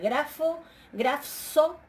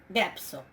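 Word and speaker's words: γράψω: Para una labial, grafso, no es grafso, sino grapso, ¿sí?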